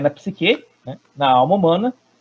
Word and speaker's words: psique: A primeira ali, como é que eu vou pronunciar? Psique? Psique? Perfeito. Psique.